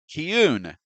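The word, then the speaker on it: כִּיּוּן: Okay, so now let's research this first unique Hebrew word, which is transliterated as kiun. Understand, this word was not translated. This is how you pronounce this Hebrew word, kiun.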